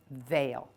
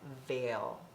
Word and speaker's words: veil: what does it say e i says a okay and let's look at ourselves while we say veil it i like that